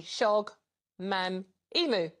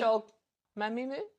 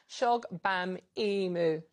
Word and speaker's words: Shogbamimu: Shogbamimu. Start. Do it again. Oh, come on! No, no, I've got the Shola right. Do it again and read it phonetically. Shogbamimu. You just missed the B.